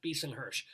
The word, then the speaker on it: Bisen-Hersh: and books about seth beason-hirsch oh that's lovely am i getting your name pronounced correctly yeah beast and hersh that was correct that time so beeson beason yeah